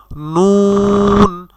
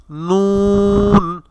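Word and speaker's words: نون: নুন নুন।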